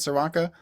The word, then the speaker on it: Czerwonka: Is that how you say it, Czerwonka?